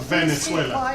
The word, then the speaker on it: Venezuela: aggression against Venezuela. And we must mobilize. Venezuela. Please speak quiet. Yeah. Well, if you're gonna We're gonna pronounce the ask- name, it's pronounced Venezuela.